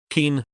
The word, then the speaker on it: kin: of time day equals kin pronounced keen month of 20 days